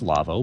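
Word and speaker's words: Lawo: lavo website lavo l-a-w-o it's pronounced lava but we spell it l-a-w-o dot com look for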